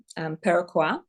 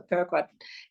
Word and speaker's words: Peruquois: find me on Instagram, Peruquois, and it's spelled like Peru, the country, and Kwa like Iroquois Indian. It's like a French spelling. So Peruquois is my Instagram.